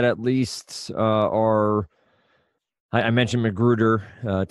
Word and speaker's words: McGruder: least are I mentioned McGruder to actually pronounce the r at the end of that name uh any you have